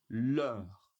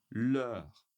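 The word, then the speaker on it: leurs: Et pour le nom pluriel, l'ure l'ure l'ure l'ure. Et oui, on ne prononce pas le s ici non plus.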